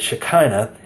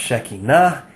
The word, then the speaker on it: Shekinah: Most people mispronounce this word Shekinah, and most people have the misimpression that Shekinah means glory. It does not mean glory. It's properly pronounced Shekinah, and it actually means presence, not glory.